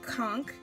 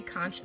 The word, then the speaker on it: conch: I'm gonna go to conk some people say conch that's blame okay you don't pronounce the H just don't and I'm just gonna